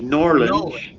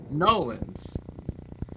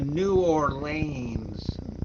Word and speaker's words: New Orleans: right oh so are the correct uh pronunciation of New Orleans is Norland Noland yeah and you can tell when somebody is not from around there when they say we went to New Orleans no you did not no you did